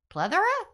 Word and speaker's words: plethora: Plethora? Plethora? Plethora. Kind of like leather with a P in front? And an A at the end.